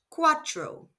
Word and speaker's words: cuatro: Four is quatro. spelled c u a t r o and pronounced quadril. Let's hear it again.